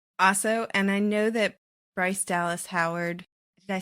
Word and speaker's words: Bryce Dallas Howard: Also, and I know that Bryce Dallas Howard, did I say it right?